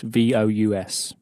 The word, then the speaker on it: vous: So, let's look at the word for you, which is spelt V-O-U-S.